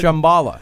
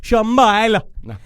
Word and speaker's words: Shambhala: Small Earth theory, the idea of like the inner Earth, where there's a whole Shambhala. Shambhala. I think that's the proper pronunciation All right, for that. Shambhala.